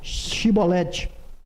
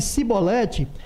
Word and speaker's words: chibolete: Se dizia que não, então lhe pediam que dissesse a palavra chibolete. Se no entanto dissesse cibolete porque não conseguiu pronunciar corretamente a palavra, eles o prendiam e o matavam na passagem do Jordão.